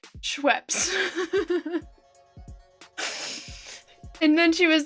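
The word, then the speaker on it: Schweppes: ginger ale brand by scheps and but they clearly had never heard it said out loud before so they didn't know how it was pronounced so instead uh they pronounced it sh peeee and there was this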